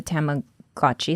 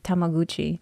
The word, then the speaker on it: Tamagotchi: But yes, Bobby is a Tamagotchi. Is that how you say it? I used to say Tamaguchi. Oh, really? Tamaguchi? Tamagotchi.